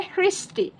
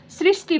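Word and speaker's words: সৃষ্টি: फिर यह है हृष्टि। लेकिन सालों से लोगों की आदत है। लोग सृष्टि बोलते हैं। बहुत लोग सृष्टि बोलते हैं। और बहुत कम जगह आपको हृष्टि सुनाई देगा।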